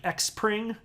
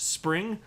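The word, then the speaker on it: Xpring: that a word and people are saying like x pring and it was supposed to be pronounced spring like this is not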